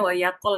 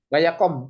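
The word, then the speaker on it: ויקם: Nah, jadi ini o ya. O ya bacanya. Wayakom. Nah, seperti tadi wayarots. Nah, yang gitu-gitu bacanya o. Waya, wata. Ya, kayak gitu. Wayakom. Lebih enak begitu. Kalau teorinya sih ini ada di suku kata tertutup tidak mendapat tekanan. Nah, dibacanya o kami satu.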